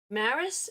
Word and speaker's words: Maris: that to you but Maris way of life and I know that's not how you say her name she says her name with the rolling R but for for us